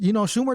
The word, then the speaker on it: Schumer: Schumer sounds, Schumer does rhyme with loser, you know what I mean?